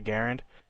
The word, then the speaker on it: Garand: g43 the cabin the self slaughter and the garand and yes that's how you pronounce it to do a little research on